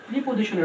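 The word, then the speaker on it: preposition: ওকে, এবার যদি আমরা বিশেষ করে একটু প্রিপজিশনের অবজেক্ট দেখি, বিশেষ করে প্রিপজিশনের অবজেক্ট, এটা উচ্চারণ হবে প্রেপজিশন, এটা হবে কি প্রেপজিশনের অবজেক্ট, টিআইওয়াই, প্রেপজিশনের, এই যে প্রেপজিশনের অবজেক্ট।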